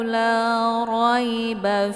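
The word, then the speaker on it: لَا رَيْبَ: Nah, di sini ada pengucapan 'ro' yang kental. La ro , la roy. Karena huruf 'ra' memiliki harakat. Jika terdapat fathah harakat, maka dibaca tafkhim, tebal.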